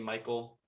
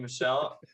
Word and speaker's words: Michel: Listen, first off, I get corrected whenever I say Sony Michelle. All right, so I say Sony Michael now, and it's spelled like it's Michael without the A.